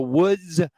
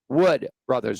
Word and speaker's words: Wood Brothers: I said the Woods as in WS brothers, and it is Wood Brothers.